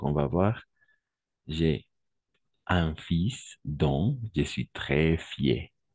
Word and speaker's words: fils: De la même façon ici, j'ai un fils. Attention, on va prononcer ici fils, pas fil, fils. On ne va pas prononcer le L à la fin, oui. Tout simplement fils.